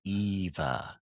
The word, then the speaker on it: Eva: It's pronounced there's Eva. Right. That's why her name is Eva.